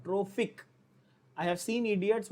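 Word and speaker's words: trophic: I have seen idiots who से ट्रोपिक, that is have completely different meaning. ट्रोपिक या ट्रॉपिकल completely different meaning हो जाता है, गलत। यहां पे क्या है, ट्रोफिक है, फ प नहीं।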